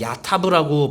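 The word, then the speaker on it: יָטַב: 자, 여기서 옳다라는 히브리어는요, 야타브라고 발음하는데요.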